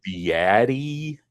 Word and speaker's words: Beatty: They just say Beatty or something like that? Well, Beatty's the most common, and I'll answer to that because that's just a matter of what was the accent of your ancestors.